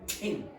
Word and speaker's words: tin: tin, that must be aspirated. It's not tin, it's tin. Do that? Tin. I want you to spit at me. Tin. Okay? Tin. Okay? Again? Tin. Tin. Okay? This is what if you don't pronounce this, there are words that you might pronounce by accident. Gat, for example, or you might get din. This is a trade agreement. Yes. This doesn't exist, but it might sound like bink.